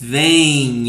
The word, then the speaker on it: vêm: It's a nasal sound when you are pronounced. Vem, vem, vocês vêm, eles vêm.